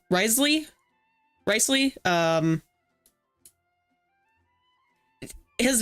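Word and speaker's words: Wriothesley: think somebody said that his name is actually pronounced like rice Ley or something or Risley rley um his name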